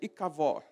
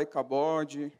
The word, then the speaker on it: Icabode: sabendo quem foi iav o certo da pronúncia seria I cavó Mas pode falar icabode cabou e cabó como já vi em alguns lugares vamos ver do 18